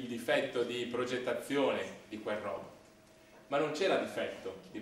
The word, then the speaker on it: robot: Intanto si pronuncia robot e non robot, anche se in italiano potete dire come vi viene.